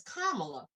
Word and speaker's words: Kamala: say her name you know i've heard someone mispronounced her name so much lately that i'm sitting here like did i say it's kamala yeah and i said kamala like the other